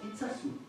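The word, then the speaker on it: Itxassou: non difficile à prononcer cela s'écrit it saxo avec un mix mais se prononce itsasu avec un S ce village ça s'ouvre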